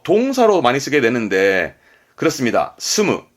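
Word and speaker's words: 住む: 스무, 예, 살다, 거주하다의 스무였습니다.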